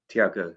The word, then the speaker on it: Tiago: and on that song, Angel of the Presence, beautiful, is it pronounced Tiago? Tiago, yes, Tiago and his mother, how sweet and how it touched them and how beautifully that happened.